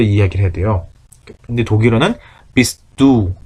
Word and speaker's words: bist du: 근데 독일어는 비스두 딱 두 개밖에 없죠. 비스두 2음절로 끝나야 돼. 비스두 그러니까 발음할 때도 비스트두 이렇게 하지 마시고 비스두 하고 깔끔하게 비스두 베니시 비스두 이렇게 깔끔하게 처리하시면 좋겠고 Er ist 예를 들면 그는 의사 선생님입니다.